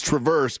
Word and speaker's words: Traverse: I was saying it wrong before, by the way. Some Thank you for pointing that out. It's Traverse models.